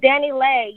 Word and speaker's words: DaniLeigh: Oh, Danny Lei.